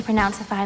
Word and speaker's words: Pronounceify: The letter I is the short I, or I sound, so relax your lips. I. Then the letter Y is actually 2 sounds. I, ify, or ify. Pronounceify.